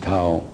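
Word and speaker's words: Thao: T-H-A-O, Tao. That's her name. You can pronounce whatever you want, but I pronounce it Tao.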